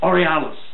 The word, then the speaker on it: Aurealis: Was that how that's spelled? Auralis. Aurealis. Yes, been going for years.